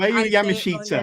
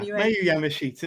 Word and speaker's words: Miyu Yamashita: Miyu Yamashita. Miyu Yamashita.